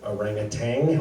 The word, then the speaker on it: orangutan: Also, I apparently pronounced the word orangutan with a G on the end, which in my defense is a fairly common inaccuracy. It does not have a G, but and so I